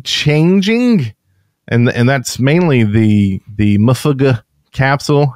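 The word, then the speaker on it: MUFG: going to be changing, and that's mainly the Mufuga capsule. How do you say it? The Mofo capsule. Mofo.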